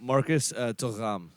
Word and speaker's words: Marcus Thuram: Marcus Thuram, if you Yes. really want to say it correctly. Right, because he's a Frenchman.